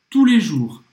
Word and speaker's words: tous les jours: Até os franceses erram, porque a gente não pronuncia nenhum dos S's.